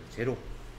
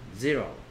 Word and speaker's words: zero: 한국 사람들은 e가 a라고 생각하고 o를 o라고 생각해요. 제로. 영어 발음은 zero.